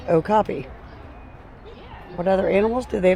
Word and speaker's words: okapi: Okapi. Pronounced okapi.